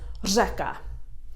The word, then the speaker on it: řeka: every time for example river is Zeca it's quite a little hard sound at the beginning a little bit of a roll ha combined with a zsa-zsa mekka lekka what about